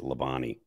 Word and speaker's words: Labonte: It's French, but it's as Americanized as you can get. It's Labonte. Oh, Labonte.